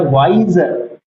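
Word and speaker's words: wiser: रहा हूं वर्ड है वाइजर वाइजर देखो यहां पे स्पेलिंग में एस है लेकिन बोलने में ज z है तो वाई ज यहां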